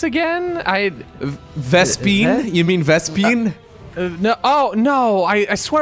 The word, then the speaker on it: vespene: term for gas again I vespi you mean vespene no oh no I swear I heard vests peon I will admit in my defense apparently Swan